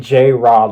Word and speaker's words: J-Rod: Can we have like J-Rod, Mikael, like well, J-Rod is actually J-Rod, like like A-Rod, Alex Rodriguez.